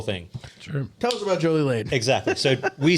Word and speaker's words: Jolie-Laide: If you were saying it correctly, you say Jolie-Laide, almost like Led Zeppelin.